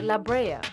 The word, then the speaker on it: La Brea: part of the island la bray's a spanish word pronounced la brea which means pitch or